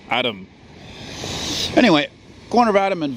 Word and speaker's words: Adam: Anyway, I'm here on the corner of La Rue Adam, but actually, how it's correctly pronounced is Adam.